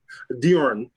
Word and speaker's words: Djorn: say your first name diorn dior yes so so there's a famous tennis player bjorn work back in the day bjorn so it's just a d all right and then